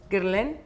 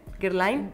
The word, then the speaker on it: Guerlain: Es de Lo, ¿cómo se pronuncia? Guerlain. Guerlain.